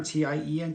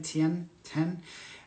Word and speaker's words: Tien: It's like, it's T-E-I-N or T-I-E-N, Tien. Tien. It looks like it's spelled that way.